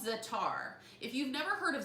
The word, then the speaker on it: za'atar: This is called za'atar.